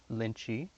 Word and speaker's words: Lynchy: This is my friend Lux's cat, Lynchy, kind of like lychee, like the fruit, but pronounced weirdly.